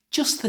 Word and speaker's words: just the: To say this like a native British speaker, you should join the just, which ends in a t sound, to the, which starts with a t sound, by simply not saying the first t. So it sounds like this.